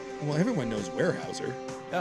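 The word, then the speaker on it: Weyerhaeuser: I am told that it is warehouser and they are a timber company. I thought you said wire. I did but I mispronounced it. I'm told it's warehouser. Well everyone knows warehouser.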